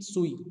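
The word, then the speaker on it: Tsui: दूसरा है F Skoog के साथ ही है सी सुई, यहाँ पे टी साइलेंट रहेगा।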